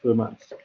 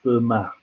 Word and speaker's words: Fermat: learn to pronounce everyone fermat was french and in french you don't pronounce the last letter so it's for matt although it looks like